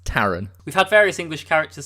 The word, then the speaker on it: Taran: meet our main character taran which they keep pronouncing as taran which is the first of the mildly irritating pronunciations it's taran we've had various english characters such as king